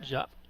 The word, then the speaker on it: Diop: Diop or Jop? I forgot how to Gonzaga. pronounce it. Jop.